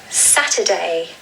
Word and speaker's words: Saturday: This is the only day of the week that has 3 syllables. The stress falls on the first syllable, just like the other 6 days. And you really want to stress that Saturday.